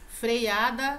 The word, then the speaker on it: freada: Freada não tem esse I.